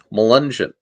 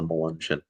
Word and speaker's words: Melungeon: Melungeon.